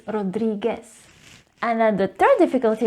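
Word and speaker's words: Rodríguez: The second problem with this name is that the letter U is usually pronounced when the non-native Spanish speakers say the brand Rodriguez. You need to remember that the letter U is actually silent, so it is Rodriguez.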